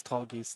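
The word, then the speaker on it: Tallgeese: I used to pronounce it tall, but it's tall geese. Definitely. Tall geese. I say tall goose cuz geese is plural.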